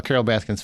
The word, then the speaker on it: Baskin: It's not Carol Baskins. It's Carol Baskins, that bitch. I refuse to jump in there. Look, I'm pretty sure it's Carol Baskin. It's not Baskins.